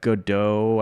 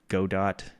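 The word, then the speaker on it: Godot: I picked up Godo. I don't know if you're familiar with that. Go dot is how it looks like it's spelled, but Godo.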